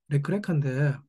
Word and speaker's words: לך־לך: 레크레카인데 이 레크레카는 언뜻 같아 보이지만 사실은 전혀 다른 글자입니다. 레크레카라고 읽는데 히브리어는 오른쪽에서 왼쪽으로 읽기 때문에 처음에 레크는 가라는 동사 할라크의 명령형입니다.